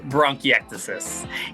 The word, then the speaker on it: bronchiectasis: It's called bronchiectasis. And, I purposely snuck that one in there because, my mom has bronchiectasis.